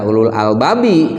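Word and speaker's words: أولو الألباب: Nah, itu jangan dibaca ulul albabi kalau mau berhenti, tapi ulul albab, terkecuali kalau dilangsungkan atau diwasolkan.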